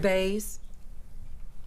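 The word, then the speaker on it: Boese: Bays. That's what you asked for? Yeah. Who asked for name? Okay. B-O-E-S-E.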